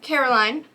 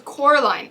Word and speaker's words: Coraline: yeah so this is caroline um actually no it's coraline i'm sorry i mispronounced